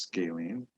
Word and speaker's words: scalene: about the sides a scalene triangle this word's pronounced scalene is a special triangle that has three different